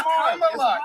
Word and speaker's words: Kamala: Let me So pronounce her name right. Kamala Harris. If Kamala. You said I will it's Kamala.